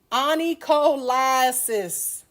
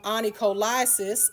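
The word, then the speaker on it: onycholysis: So, in this word, when you pronounce it properly, you hear the word lie, okay? And you hear the word cis. All right? So, the definition of onycholiasis is separation of the nail plate and the nail bed.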